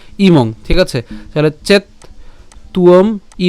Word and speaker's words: ইমং: তাহলে রস্বীকারটা ম অনুসারের সাথে অনুষ্কার আমরা যদি উচ্চারণ করি একসাথে তাহলে তার উচ্চারণ হবে কি ইমং, ঠিক আছে।